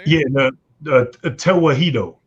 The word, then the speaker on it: Tewahedo: Yeah, the Tewahedo. Tawihedo.